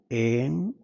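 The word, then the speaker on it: ऐं: है या हिंग नहीं सरस्वती माता के उच्चारण में हिरिंग नहीं आता है ओम एम ओम यही आता है रिंग सरस्वती माता के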